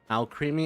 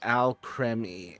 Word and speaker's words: Alcremie: They'd never give a single Al Creamy. It's pronounced Al Creme.